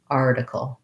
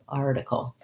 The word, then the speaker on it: article: syllable stress which means the r is long and has a clear vowel and the tickle is short and reduced and has reduced vowels basically the syllable stress is an important part of pronunciation for any word i don't want to be too even across the syllables i want to make sure that i have that long and short pattern article article you might